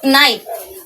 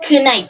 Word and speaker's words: night: now pinpr siyang food second one is night used to pronounce night but nowunce na siyang night parang gabi no parang yung pronounce kang gabi pero night talaga yan silent na yung k tapos gh sa silent na ong dalawang to kaya sinasabi siyang night hindi na kight hindi na kight night na siya example pa